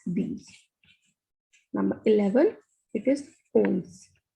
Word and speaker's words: onze: Number 11, it is ons. Ons. The pronunciation of O and N is on.